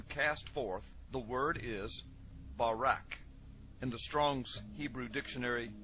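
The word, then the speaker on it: ברק: a flash of light in Hebrew is pronounced Barak or Barack now consider this amazing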